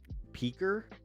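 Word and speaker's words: Piker: But man, if you really want to freak people out, pronounce it like they do in Turkey. Peaker? Peaker. Ah, Peaker.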